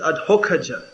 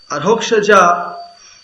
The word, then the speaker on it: Adhokshaja: One of his name is Adhokhaja. Adhokshaja, or Hokhaja, depending on which way you pronounce it, means A to Aha.